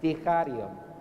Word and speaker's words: Sticharion: Sticharion, but it's not a k, it's a ch. Sticharion.